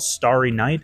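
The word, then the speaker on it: Stari: stout uh this one's called Starry KN and it's spelled St a r i uh it's named that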